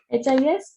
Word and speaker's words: histoire: So answer should be HISTOIRE, history. Whenever H is at the beginning of any word, it is muted. We don't pronounce this H.